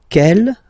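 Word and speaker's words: quelle: same way and then the feminine form is written like that q l l but it's pronounced like the masculine form Kell at the masculine k at the feminine okay so it's basically same pronunciation okay and then here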